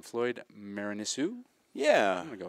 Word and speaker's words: Marinescu: Floyd Marinescu? Yeah. I'm going to go with that. Yeah, I'd say add a little French kick up. Marinescu.